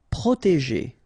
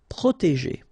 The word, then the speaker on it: protéger: Protéger. Okay, so accent aigu et proté, and then remember G and ER at the end, so G. Protéger.